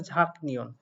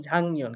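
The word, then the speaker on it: 작년: ঝাং নিয়ন এখানে বলছে ঝাঁক নিয়ন আসলে এটা সঠিক উচ্চারণ ঝাঁক নিয়ন না এটার সঠিক উচ্চারণ ঝাং নিয়ন কেন হলো সেইটা মূলত আপনাদেরকে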